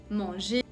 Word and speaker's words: manger: Y ese sonido también se pronuncia cuando una palabra acaba con ER, ¿ok? Que son todos los verbos en ar, por ejemplo en español, que son en E en francés. Manger, o también un métier, que es una profesión.